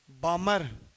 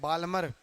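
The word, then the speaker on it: Balmer: बामर। English में इसको बालमर Hindi वाले कई बार बामर को क्या बोल देते हैं? बालमर। एल साइलेंट है भाई।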